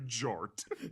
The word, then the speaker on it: Jort: Uh, in order to make Yoton pronouncable for Americans, it has been corrected into Jort. Jort as in combination jean shorts.